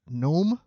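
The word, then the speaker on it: Noum: on here is dr gnome i guess i don't know what if i pronounce it it's n-o-u-m like now or something jason alexander that's exciting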